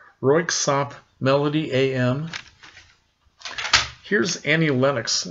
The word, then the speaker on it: Röyksopp: lot of things away here's a workshop it's pronounced röyksopp melody am here's Annie Lennox she's not dance